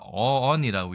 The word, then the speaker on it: 於焉: 단어에 대해서 알아보도록 하겠습니다 일단이 단어 우리가 어언이라고 읽습니다 알지 못하는 동안 어느덧